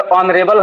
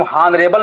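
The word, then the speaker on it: honorable: उसी प्रकार ऑनरेबल है, उसको हम हॉनरेबल नहीं बोलते, ऑनरेबल बोलते हैं, एच साइलेंट होता है।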